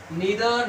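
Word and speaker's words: neither: ये आइदर और नाइदर नोर बोलते हैं, ये गलत प्रोनाउंसिएशन है, तो क्या बोलेंगे इसको, ईदर और नीदर नोर से जुड़े हुए सिंगुलर सब्जेक्ट से ध्यान रखना है।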